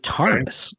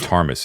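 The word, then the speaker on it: Ptarmis: Deeds of tus and tus is spelled PT a r m i s Deeds of Tas the Deeds of Tas and the fragment Deeds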